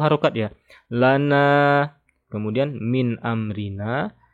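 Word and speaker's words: مِنْ أَمْرِنَا: Nun sukun bertemu alif adalah izhar. Maka dibaca jelas ya. Tidak dibaca dengung, gunnah, ataupun panjang. Jadi kita membacanya biasa saja. Min amrina. Jangan ditahan. Min amrina. Salah. Yang benar. Min amrina. Oke. Ini mim juga teman-teman. Hati-hati ya. Jangan dipantul. Min amrina. Jangan ada e. Yang ada e itu qalqalah.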